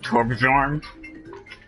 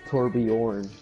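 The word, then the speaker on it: Torbjörn: Torbjorn? It's Torbjorn.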